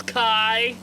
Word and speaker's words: Kai: My name's Kai. Kai rhymes with die.